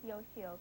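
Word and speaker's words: Yoshioka: easier, I told him it was Mrs. Yoshio and it rhymes with tapioca.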